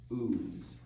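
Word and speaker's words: Uz: in the land of ooze he goes what is that oozy stuff that's just how you pronounce it land of ooze okay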